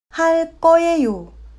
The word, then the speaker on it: 할 거예요: 할 거예요는 할 거예요 라고 말합니다.